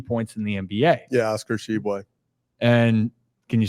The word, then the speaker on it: Oscar Tshiebwe: Yeah, Oscar Tshiebwe. And can you say that again? Oscar Tshiebwe.